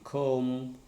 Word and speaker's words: comb: Okay, but in some words it is silent. For example, comb, climb, bomb. When B happens or B comes after M, such as thumb, and then when T